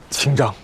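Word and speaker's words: 清章: 我想起来了，小龙在我们族语里的发音是 “ 清章 ”。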